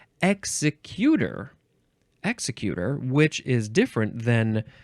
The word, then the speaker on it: executor: And it looks like in the first definition, you would pronounce it executor.